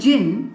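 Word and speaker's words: djinn: इसे कैसे प्रोनाउंस करेंगे डी साइलेंट तो छिप गया डी तो हम बोलेंगे जिन या कई बार लोग अलग अलग कंट्रीज में अलग तरीके से प्रंस करते हैं लाइक जिनी जनी राइट और ये जिन क्या है ये एक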